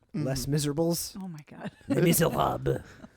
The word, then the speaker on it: Les Misérables: which I think is actually pronounced Les Miserables.